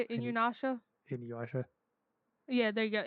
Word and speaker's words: Inuyasha: Inuyasha, Yeah, there you go.